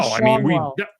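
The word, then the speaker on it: Schanuel: Is that how you say that? I believe it is, yeah. Not I always Shanul. said it as Shanul. I'm pretty sure it's Schaunwell, but whatever.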